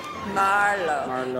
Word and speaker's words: Merlot: Merlot a good year for Merlot who's Merlot Marlo accent I'm the first syllable Marvel for the red wine I can pause 95 96.